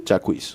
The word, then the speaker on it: Jacquees: How do you even pronounce his name? Jacquees.